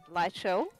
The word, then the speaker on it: Lycel: Lexi MD, 20 buckaroonies on behalf of my number one favourite Australian, Lycel. That's the way of pronouncing it.